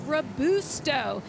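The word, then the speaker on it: Robusto: She said, "It's Isabella Rabusto. My grandfather is Italian and from the Amalfi Coast."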